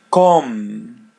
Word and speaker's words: com: Com. Yeah. The letter M is pronounced as English M.